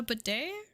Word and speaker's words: bidet: That's how it's pronounced, isn't it? A bidet? It's not actually pronounced how it's spelled.